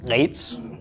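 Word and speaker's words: עץ: An ayin with a tzera beneath it, and a final tzadi, pronounced eitz, or just eitz if you don't wish to choke yourself while you're trying to pronounce it.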